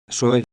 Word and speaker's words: soy: Pronunciation tip, the Y in soy is pronounced like the English E.